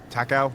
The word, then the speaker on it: Takao: Takao.